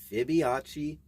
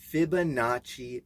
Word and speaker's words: Fibonacci: Now, this video is regarding a mischievous little gremlin cat and the Mandela effect and the Fibonacci. Did I say that right? No, didn't say it right. Fibonacci sequence.